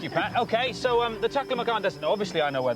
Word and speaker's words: Taklamakan: Carolyn is the first woman to ever walk across the Taklamakan Desert. Is that how it's pronounced?